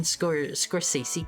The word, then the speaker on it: Scorsese: You guys told me how to pronounce this correctly the other day. Scorsese?